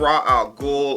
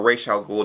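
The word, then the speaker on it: Ra's al Ghul: But speaking of Raw Al Ghoul or Ra Ghoul, depending on how you how you say it, that also brings me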